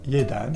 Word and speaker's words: jedan: Le J se dit comme un Y, comme dans yogourt. Par exemple, Jedan, qui veut dire un, ou la ville de Sarajevo en Bosnie-Herzégovine.